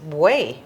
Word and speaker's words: buey: Well, the correct word is buey, B-U-E-Y, que es un buey, which is a bull, un buey.